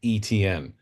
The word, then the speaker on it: Etienne: You spell it like this, and you pronounce it Etienne. And because I'm a big fantasy football player and I'm used to saying ETN, that's how I say it because that's how he pronounces his name.